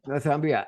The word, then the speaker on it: Northumbria: He's got a professional diploma in architecture from, I can't even pronounce this, Northumbria University, and is it Northumbria? Yeah, Northumbria, and then advanced diploma in the professional practice of architecture from the University of Liverpool.